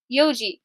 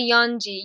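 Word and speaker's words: 四時: You never say yonji. Yonji is incorrect. So basically you take that n out and you say yoji.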